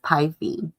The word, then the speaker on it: Pi: The slip of paper in Maddiey's envelope tells her she's been picked by Pi Betafi, known as Py, pronounced Py, a perfectly respectable sorty, but not generally considered a top house on campus.